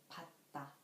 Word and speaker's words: 받다: The first one is 티귿, 받다, 받다.